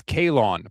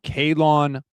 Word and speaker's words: Kalon: It's Kalon Black, by the way. Sorry if I I said his name wrong. Kalon Black is the is how you pronounce his first name.